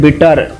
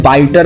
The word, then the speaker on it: bitter: अगर आपने इसको गलत तरीके से बाइटर भी बोला या फिर बाइटेर या फिर बीटर की जगह बीटेर बोला तो भी वो मीनिंग बदल जाएगा या फिर आपका मान